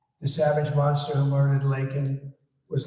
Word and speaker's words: Laken: months of bring him Biden couldn't pronounce her name said said Lincoln Lincoln Riley and Lincoln Riley is the football coach coach and uh this was in Congress couldn't even get the name right uh Laken was a brilliant young